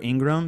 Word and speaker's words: Ingraham: it's just underscore ingram and my last name is spelled a little different i n g r h i always say i n and then the word gram like graham cracker um my email